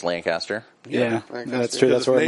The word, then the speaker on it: Lancaster: Well, in Ohio it's pronounced wrong. In Pennsylvania it's Lancaster.